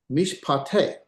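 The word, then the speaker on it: מִשְׁפְּטֵי: This is mish, mish. And here is a vocal shava, so that's a pronunciation. This is pa, te, mish pate, judgments of.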